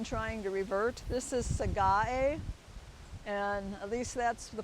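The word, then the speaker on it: Sagae: with this one trying to revert this is sega a and at least that's the people in the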